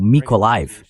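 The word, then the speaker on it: Mykolaiv: Então, Odess Nikolev ou Mikoliv, dependendo, sabe? Há uma pronúncia ucraniana e uma russa.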